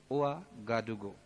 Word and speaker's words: Ouagadougou: तो ओआ गाडुगो, ओआ गाडुगो, स्पेलिंग सुनिएगा, OUAGADOUGOU।